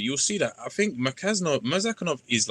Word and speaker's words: Murzakanov: Merkazanov's gonna have to cross there to get his hits off on Rakic there. Murzakanov. Sorry, I always pronounce this wrong.